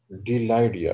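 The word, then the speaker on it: Bdelloidea: second class डिलाइडिया, इसका B silent है, डिलाइडिया जी, anterior and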